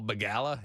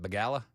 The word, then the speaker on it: Begala: That didn't stop CNN and Paul Begala. Is that how you say it? Begala? Begala.